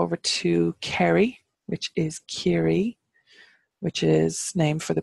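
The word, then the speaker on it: Ciarraí: going to go over to carry which is carry which is named for the people of care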